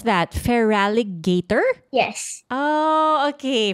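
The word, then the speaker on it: Feraligatr: wait okay I also like how do you pronounce that feraligator yes oh okay feraligator Del Fox and I think that's how you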